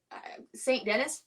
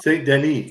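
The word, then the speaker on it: Saint Denis: as good as uh St Dennis we're gonna that's how I'm gonna say his name I'm I'm pretty sure it's wrong St Denise St Denise my bad not here in America it's Dennis see that [ __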